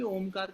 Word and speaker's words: ओम: करते है हम लोग ओम का उच्चारण अ उ म इन तीन अक्षरों को अलग-अलग ले करेंगे और लगभग बराबर एक एक बराबर समय तीनों को देंगे।